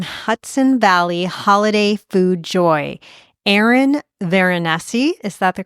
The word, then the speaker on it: Eryn Veronesi: to spread some Hudson Valley holiday food Joy Aaron venessi is that the correct pronunciation yep I did it yay Aaron vessi